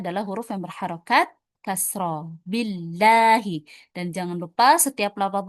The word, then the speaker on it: Allah: Kalau tebal atau tafkhim dibacanya l ya dibacanya ya. Ada o-nya ya. Itu ketika di awal kalimat ya seperti ini. Allahu ketika huruf sebelum lafaz Allah adalah huruf yang berharakat fathah.